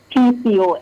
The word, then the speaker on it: PCOS: Conditions like hypertension p is it is it picos or PCOS? How do you say it? PCOS.